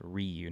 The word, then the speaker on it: Ryu: The Ryu, and we did check, it's pronounced Ryu, not Ryu.